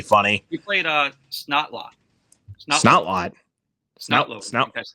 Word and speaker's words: Snotlout: Snout. That's how you pronounce his name.